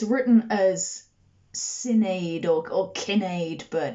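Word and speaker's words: Cináed: and i was approximating it turns out it's probably that kinade as i was saying is probably pronounced kenneth kenneth king of the scots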